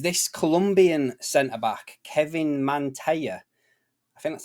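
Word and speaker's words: Mantilla: Colombian Center back Kevin Mana I think that's how you pronounce his name Double L in Spanish he's a why isn't it so yeah Mantia you know what I'm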